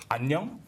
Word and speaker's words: 안녕: Fun fact, hello in Korean is pronounced annyeong, which sounds a lot like onion.